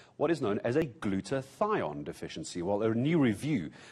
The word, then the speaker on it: glutathione: If COVID-19 had knocked you down for a little while, you might have what is known as a glutathione deficiency.